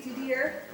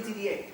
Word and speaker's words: Didier: Sometimes, you know, in French words, the R is not pronounced at the end. So it could be Didier or it could be Didier.